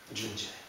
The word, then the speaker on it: Jun Je: So the Sanskrit, you would spell that usually in Sanskrit like Candhi and pronounce it something like Chunji. Chunji. So Jun Je is the way it comes to be pronounced finally.